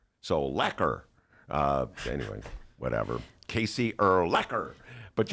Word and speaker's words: Urlacher: the Bears call him Urlacher I say Urlacher I say correct echo it's little middle linebacker so how does would you say it rhymes with Becker so laquer anyway whatever Casey Urlacher